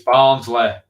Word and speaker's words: Barnsley: Say it right. It's Barnsley. Barnsley.